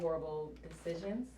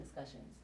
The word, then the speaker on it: Horrible Decisions: You got Horrible Decisions. Yeah. I said it right? Thank God. I've been saying discussions.